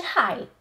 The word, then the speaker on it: high: Albo nie czytamy tego g, h w ogóle, tak jak w słowach although, czy też though, sigh, czy high.